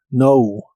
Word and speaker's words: know: Cuando una palabra de inglés empieza con una K y una N, no se pronuncia la K de esa palabra, como en este caso, know.